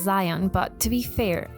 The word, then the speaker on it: Zion: stupid silly looking guy his name is Zeon well it's actually supposed to be pronounced Zion but to be be